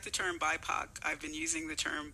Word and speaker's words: BIPOC: poc is pronounced poc but in bipac all of a sudden it becomes puck which yes is so